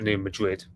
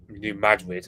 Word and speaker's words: New Madrid: Apparently, Americans pronounce Madrid. I'm just comparing it to Madrid because I don't live in that part of America, obviously, and I just know it as the Spanish capital city kind of name.